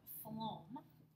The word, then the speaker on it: phloem: Xylem, which carries water, and we have phloem that carries food or glucose or sugars or what have you. But remember, pH sounds like just as food sounds like the F sound at the beginning there.